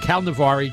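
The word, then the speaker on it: Cal-Nev-Ari: Calneva-Ari, which is the Calneva-Ari, you pronounce it the way you spell it.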